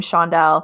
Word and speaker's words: Chaundell: or something my name shondelle no one knows how to say it typically and with the CH which usually makes like a CH sound it doesn't make sense you're like Mom if